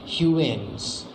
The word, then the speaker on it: Huygens: It is introduced by scientist Huygens या फिर हाइजीन या फिर ह्यूएन। मैंने आपको बोला इनका नाम आप किसी भी तरह से प्रोनाउंस कीजिएगा, करेक्ट प्रोनाउंसिएशन है ह्यूएन्स, ठीक है।